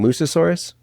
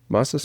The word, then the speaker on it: Mosasaurus: That's the what the word I keep thinking about is when your your son brings the I'm going to say it wrong. Musasaurus. Mosasaurus.